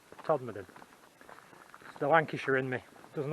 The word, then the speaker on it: Todmorden: i had to ask how you actually pronounce todd madden that's what he said todd made the lancashire in me